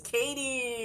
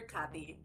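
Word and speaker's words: Catie: So like, a lot of people call her Cathy. And it's like, it's Katie with a C, like me.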